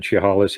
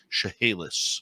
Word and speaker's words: Chehalis: Burns, who was a teacher on the Chehalis Indian Reserve in British Columbia. And I'm just going to correct you on the pronunciation there. Chehalis.